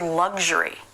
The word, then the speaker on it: luxury: of one other word the word luxury this is also different it's just like sexual only it's voice so it's G and then luxury luxury I couldn't